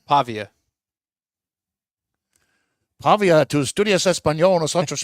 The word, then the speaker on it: Pavia: And Pavla, how you pronounce his name? Pavia.